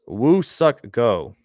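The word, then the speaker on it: Woo-suk Go: grinkie and call it a day it is pronounced woo suck go go crab syar Mar are in Crazy GM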